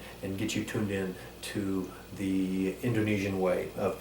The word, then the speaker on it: Indonesia: In Indonesia, they really enunciate and they don't compress the end like Americans, even myself. I quite often will pronounce it Indonesia. So again, you'll hear the locals Indonesia. They'll pronounce every syllable.